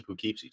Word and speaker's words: Poughkeepsie: Poughkeepsie? Poughkeepsie tapes. Did I say it wrong? Poughkeepsie. Poughkeepsie. Well, it's like carrot. Carrot. That's Yeah. okay. I mean, why would anybody Impotent. spell it that way if they didn't want Poughkeepsie. if they didn't want it to be pronounced Poughkeepsie. that way?